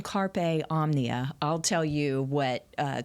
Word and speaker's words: Omnia: and he says Omnia it's like Omni hotel with an a Omnia that's how it's spelled